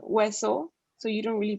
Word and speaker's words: hueso: And then there's H, so it's silent, hueso.